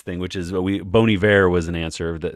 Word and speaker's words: Bon Iver: they'd be like what how do you say that bone Iver Bon Iver and then someone corrects them they say Bon Iver and you're like oh that was not obvious but sure and now